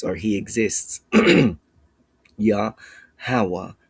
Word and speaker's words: Yahawah: Yahawah with a closed syllable marking or a closed word marking. We do not say yahawaha. It's yahawa malak.